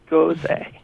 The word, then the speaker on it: Gose: We have Caitlin Olinger writing about sour beer, and fortunately she tells us how to pronounce it, Gose.